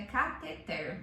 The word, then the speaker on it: cateter: E a gente já falou sobre uma outra palavra que é As pessoas falam Catéter. catéter, mas o certo é cateter.